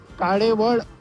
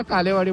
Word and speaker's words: काळेवाडी: एक सवय पडली होती काळेवाड काळेवाडी न बोलता कालेवाडी बोलायचं कारण त्याचं जर इंग्लिश मध्ये स्पेलिंग जर बघितलं ना तर एल इ येत ना तर ते तसंच वाचण्याची सवय झाली त्यामुळे मला ती सवय